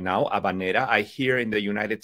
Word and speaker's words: habanera: saying it right now abanera I hear in the United States it's often called abanera or habanera often creating a near sound which is not how it sounds in Spanish I think that's a